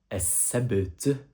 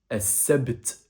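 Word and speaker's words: السبت: Le samedi, en arabe, on prononce ça. As-sabt. As-sabt. Répète après moi. As-sabt.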